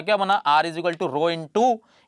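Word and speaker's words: rho: क्या पढ़ते हैं रहो इंग्लिश में आर एच ओ यह इसकी स्पेलिंग है ठीक है रो पड़ा जाता है इसे और हिंदी में उड़ते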